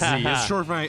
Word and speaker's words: Z: dude, so people listening, it's Z, right? That's how you say Yes, it? Z. Okay, I don't want to say it wrong. Oh, it's okay. I'll not count it as that, but it's Z. It's just short for my Chinese name.